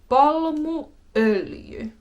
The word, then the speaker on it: palmuöljy: Palmuöljy, palmuöljy, palmuöljy.